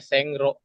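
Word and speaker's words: 線路: Tulisnya Sengro.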